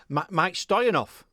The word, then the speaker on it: Mieke Stoyanov: Hey, why not go and listen to, I'm going to have to look at what, Mieke Stoyanov. Go and listen to him. He's bloody good. You're now pronouncing it very well, man.